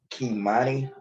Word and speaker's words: Kimani: Sean Hernandez, aka Rafi Gorham, faces multiple charges, including murder and the death of Kimani Bean, that is spelled Key, Monnie, Bean, spelled Bean, who was found unresponsive December 8th in the basement of a house on South Beechwood Street.